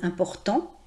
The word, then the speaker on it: importants: En français on ne prononce pas la marque du pluriel, donc on dira par exemple des hommes importants, même s'il y a